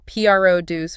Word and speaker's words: produce: Produce can be tricky because the stress is on the first syllable for the noun, but the second syllable for the verb, like p r o d u c e versus p r o d u c e.